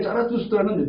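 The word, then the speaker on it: Zarathustra: 그러니까 신이라고 하는 사람을 죽었다라고 얘기를 했을 때 그가 말한 짜라투스트라는 이렇게 말했다라고 하는 책에 짜라투스트라는 독일어 발음으로 그렇게 말한 것이고 영어 발음으로는 조로아스터교를 얘기를 합니다.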